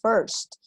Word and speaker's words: first: When my parents first, ojo, otro puntito de pronunciación, chicos, first, y ere, Chicos, siempre que encontremos la IR en inglés, va a sonar R, ¿vale? IR en inglés suena R.